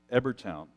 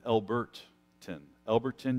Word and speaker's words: Elberton: structure, built in Georgia and in Ebertown. Let me just make sure I'm pronouncing this correctly here. It's in Elberton, Georgia. There's this monolith that was created of six large granite stones.